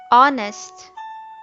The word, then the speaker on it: honest: silent letters Walker alignment honest not knowledge thought come the silent letter in walk is l the silent letter in alignment is G the silent letter in honest is H the silent letter in